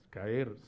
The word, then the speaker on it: caer: El verbo caer es un verbo que tiene dos sílabas, caer, no es caer, sino caer.